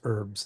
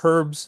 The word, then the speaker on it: herbs: So we Americans keep the h silent while a lot of